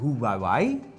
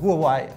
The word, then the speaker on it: Huawei: Ja en de Honor 6 is eigenlijk een Huawei zeg het goed Je hebt het perfect uitgesproken een Huawei Ja en eh een hele goede vriend van